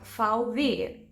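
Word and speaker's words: VW: Beetle here's the thing when the letter v stands alone it's pronounced F fou like the short version of Volkswagen FV or FV golf which is by the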